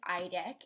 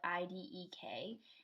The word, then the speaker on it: Idek: And his name is Idek, and you spell it I-D-E-K.